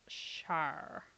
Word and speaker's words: Shar: We determined that we have determined that her name is Shar. Pronounced exactly like that.